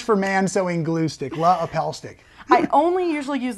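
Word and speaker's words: LePage: using the lapel stick you actually pronounced that wrong it's La Appel stick it's just a misprint on the label there yeah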